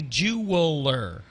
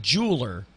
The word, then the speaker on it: jeweler: it is a jeweler they'll say it Jeweler as if it's like j o o l e r which not it's Jeweler a person who works with jewels and the person who works with jewels or jewelry is the right